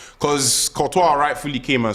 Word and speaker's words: Courtois: The chat are laughing at me for saying Courtois.